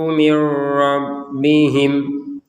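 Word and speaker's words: من ربهم: kurang itu annahul haqqu mirbihim ada nun sukun bertemu ro kita masukkan nun ini kepada huruf ro sehingga terbacanya m nah jangan dibaca min ya karena ini kita mau menggabungkan dengan huruf ro min rabbihim tulisannya memang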